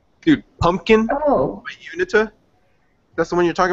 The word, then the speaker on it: Uinta: I'm pronouncing it horribly. It's Uinta is the word. Dude, pumpkin. Oh. Unita.